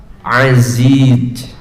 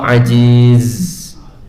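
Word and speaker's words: عزيز: Lamun aya nu maca innallaha aziz, awas itu jadi artinya Allah maha lemah, itu salah. Tapi yang benar innallaha aziz, pakai ain gitu. Tapi kalau ajiz, Allah maha lemah kan kalau begitu bacanya.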